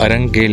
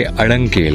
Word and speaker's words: Arang Kel: to leave अड़ंग केल तो अब तक हमारी प्रोनाउंस गलत थी यह अरंग केल नहीं बल्कि अड़ंग केल है यहां पर मैंने कई य लोकल से सुना भी और लिखा हुआ भी पढ़ा पता नहीं इंग्लिश में स्पेलिंग इन्होंने अरंग केल के हिसाब से क्यों रखी है दिस इज द वॉकवे